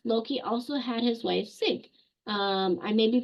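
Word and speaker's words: Sigyn: them um next Loki also had his wife sink um I may be pronouncing that wrong but it's spelled s i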